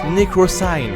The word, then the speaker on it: Necrosign: J'ai enfin changé de pseudo, ça se prononce Necrosign. Voilà, avec le petit accent anglais, on connaît.